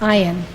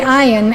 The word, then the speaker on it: Ayn: in unfold that's spelled Ayn but it is pronounced iron they saw the iron unfold step by step to the spheroat until